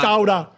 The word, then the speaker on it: Chowder: Chowder is my name. Chowder. Chowder. Don't say the R.